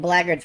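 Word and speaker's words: blackguards: It's nice to see they pronounced Blagards correctly.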